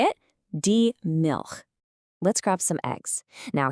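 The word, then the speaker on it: Milch: The word is diil. Now, you want to pay attention to that soft ch sound at the end. It's not a hard k sound like in milk.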